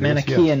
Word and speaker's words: Manichaean: You're discussing the manifestation of the Manichaean devil. Is that the correct way to pronounce that? I believe it Manichaean is, yes.